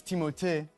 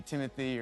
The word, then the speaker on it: Timothée: handle that well uh honestly it's timot but I would not oblige you to say it like that and it could be Timothy or Timmy or Doug or Alan it's timoty that's what it was